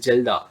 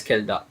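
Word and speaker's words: Kjeldahl: remember this name uh here k is silent so it it will be called as jilda or j can be accelerated it will be called as kelda so this method and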